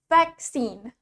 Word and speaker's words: vaccine: In British accent, the stress is in the first syllable. Dalam aksen British, penekanannya ada di suku kata pertama, vaccine, vaccine. Sedangkan in American accent, the stress is on the second syllable. Sedangkan di aksen Amerika, stress atau penekanannya ada di suku kata kedua.